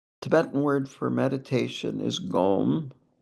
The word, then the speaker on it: gom: The Tibetan word for meditation is gome or gum as we westerners or at least in Wisconsin pronounce it.